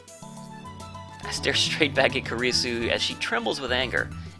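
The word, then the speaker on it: Kurisu: Or, Karisu, yeah, that's how you say it, okay.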